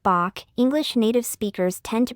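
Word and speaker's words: 박: an English native speaker it would be helpful for you to pronounce the initial sound of biop more closely to the English voice sound B rather than the voiceless sound P similar to how a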